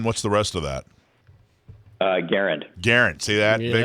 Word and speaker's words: Garand: should be pronounced, but the guy himself and his family pronounced it with the emphasis on the first syllable. So in deference to that, I have been pronouncing it Garand.